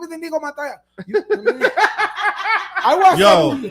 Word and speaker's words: Inigo Montoya: Well, it's spelled Yeah. indigo. It's spelled Okay. indigo, but he said it with that Spanish accent. My name is Inigo Montoya.